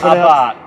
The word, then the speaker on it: Abarth: Like Abarth. No, now. Abarth. Yeah. So not to be too precious about it or car wanker at all, but it is actually Abarth. And the Steve R is silent.